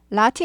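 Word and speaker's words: Lotte: 탈이 없어서 다행입니다 라티 라티 world 롯데가 이제 그 일본식 발음 이죠 그래서 라티 world 라티 영어식으로 라티 world L word 이렇게 되고요 그래서 롯데월드에서 화제가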